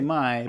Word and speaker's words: Mai: is GAI, and yet May, I always say Mai because that's what it should be in my mind.